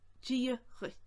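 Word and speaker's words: Dia dhuit: My way is more of a connacht way. So this is more of a connacht variation, as you can probably already hear. So what I say is dírithe.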